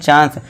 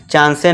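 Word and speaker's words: chance: इसी तरह देखिए लास्ट में ई है, तो इसे क्या पढ़ते हैं? चांस। चांसे नहीं, चांस। इस तरह वेजिटेबल।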